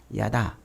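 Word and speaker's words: יָדַע: 야다라고 이렇게 발음을 하는데 히브리어로 야다.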